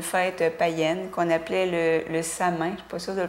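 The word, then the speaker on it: Samhain: un dérivé d'une fête païenne qu'on appelait le sa main qui possède de le prononcer comme il faut c'était en quelque sorte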